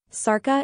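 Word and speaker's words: Šárka: Sarka is a Czech name, and the S is pronounced like sh in English.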